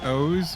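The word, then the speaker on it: OOO: Kamen Rider as like an entry point, watch O's, which is spelled O-O-O, or Double, which is just W.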